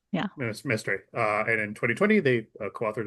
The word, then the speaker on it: Mestre: Am I pronouncing that correctly? Yeah, mystery. Yeah. Mestre.